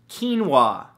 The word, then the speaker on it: quinoa: Number 2, quinoa, spelled K-E-E-N-W-A-H. No, that's not how it's spelled at all, but it should, right?